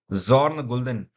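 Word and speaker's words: Bjørn Gulden: तो इनका नाम है जॉर्न गुल्दन। ऐसे लिखेंगे, जॉर्न गुल्दन। बी साइलेंट रहता है इनके नाम में, गुल्दन।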